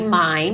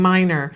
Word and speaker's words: Mines: Apparently, I've been saying our guest's name wrong all morning long. That's Stephanie Mines. Stephanie Mines. I've been saying Minor.